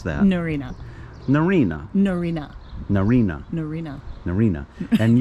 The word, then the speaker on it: Narryna: no okay i give up how do you pronounce that noreena narina norina narina norina narina and you are a